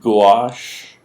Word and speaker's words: gouache: type of water color called gouache pronounced gouache from french and jacob lawrence uses